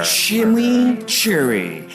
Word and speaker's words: Chimichurri: Chimichurri. That's how you pronounce it. Let it roll off your tongue.